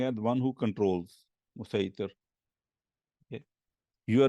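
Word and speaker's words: مصيطر: And then musaitir, and then it says also written as musai with a swad, but pronounced with a sin, one who controls or a controller.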